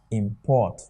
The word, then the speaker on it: import: And I told you before that if anything is given to you and it's a verb, the first syllable can never be stressed. The second one will be what? Stressed. So because this one here is a verb, it will be pronounced as what? Import.